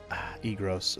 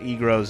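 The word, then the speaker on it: Eagrose: So, in the original version of the game, Egros was spelled I-G-R-O-S. I always pronounced it Egros anyway, so it's funny that when they retranslated it to be very phonetically exactly how it's said.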